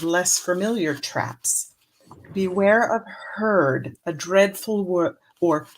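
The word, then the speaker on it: heard: Beware of herd, a dreadful word, or beware of herd, a dreadful word that looks like beard and sounds like bird.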